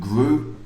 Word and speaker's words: grew: And my tip for the week was these all sound like blue. Flew, blew, through, blew, grew, blue. Okay? We don't pronounce the W. Some people say threth, thregreth. Terrible. Don't do that. Okay? It rhymes with blue.